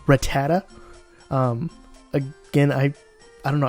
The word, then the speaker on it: Rattata: commented and said that it's pronounced Rattata again I I don't